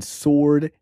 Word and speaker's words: sword: this enough just like the W in Sword is also silent yeah what are you